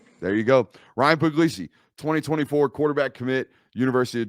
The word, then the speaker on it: Puglisi: they see what's going on with this Ryan puglicy guy and it's actually pronounced puglisi what who's this guy from Connecticut by what